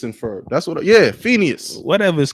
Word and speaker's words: Phineas: not for you bro it's definitely Finas bro something you saying is wrong Phineas Phineas Phineas and Ferb that's what yeah Phineas whatever is called Phoenix